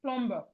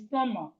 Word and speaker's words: plumber: It's not plumber, it's plumber. It's not plumber, it's plumber. Plumber, the B is silent.